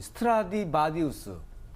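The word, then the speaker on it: Stradivarius: 특히 이제 그 악기 중에서 이 스트라디바리우스, 바디우스가 아니라 바리우스. 바리우스.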